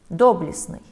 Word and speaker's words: доблестный: В каком слове нет непроизносимого согласного? А. Хвастливый. Б. Прелестный. В. Ужасный. Г. Доблестный.